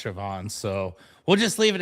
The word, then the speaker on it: Siobhan: Yeah, that is how you pronounce my name. Uh, it's Irish. Practicing. It's Irish. Um, oh, a good Irish girl. Love it. Yeah. So, the B and the H make the V sound and it really hangs people up.